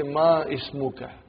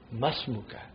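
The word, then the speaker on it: ما اسمك: It will be incorrect to say ma ismuka. You should say masmuka. Because hamzatul wasal. When the hamzatul wasal comes in the beginning of a sentence, you pronounce it. If there is something in front of hamzatul wasal, then it is assimilated.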